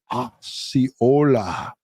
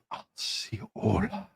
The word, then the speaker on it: Osceola: It's pronounced Osceola County. Thank you. And I have it written down. I have it written out just like that. And I still say it the wrong way. So, Osceola.